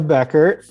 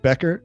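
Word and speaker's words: Bechert: and this is dana is it becker is that how you pronounce this dana becker old lady becker we call her yep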